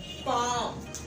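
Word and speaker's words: palm: अब कैसे फिक्र हो रही है देखें, जब ए और एम के दरमियान में एल आता है तो एल साइलेंट हो जाता है। काम पाम।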